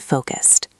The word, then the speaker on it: focused: Today I am calm and focused. Today I am calm and focused. Perfect. Notice how we don't say focus it with two syllables at the end. It is soft.